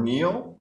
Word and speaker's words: kneel: The word kneel, the K is silent, is to go down on your knees, okay?